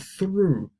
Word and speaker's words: through: English or salt and then through will be the same pronunciation as true or grew the past grow for